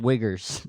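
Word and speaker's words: Uyghurs: the uh population of Wagers in there which if you don't know they pronounced wiggers is a sect of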